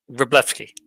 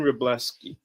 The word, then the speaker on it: Wroblewski: Would you mind telling me how to pronounce your last name so that I don't butcher it? Uh, Reblleski. Rebleski.